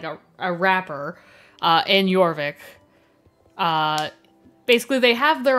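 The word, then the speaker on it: Jorvik: so there you go yorvik well it it sounds like yorvik but it's said like it's um it's spelled j like j o r v i k so cuz it's from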